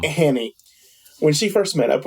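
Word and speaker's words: Hannay: with the guy uh Han is that how you say his name H Hy I think they pronounce it hany in the film Hanny when she first met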